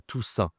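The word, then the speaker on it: Toussaint: ça la sain d'accord tout sain. Attention ici c'est a I n t mais c'est une nasale 1 la toutin.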